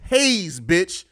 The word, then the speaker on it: Haize: ] you talking about and my name is Hayes say it right in the